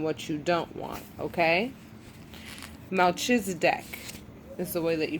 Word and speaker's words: Melchizedek: Melchizedek is the way that you pronounce his name, okay?